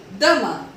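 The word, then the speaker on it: demain: D-E-M-A-I-N, dama.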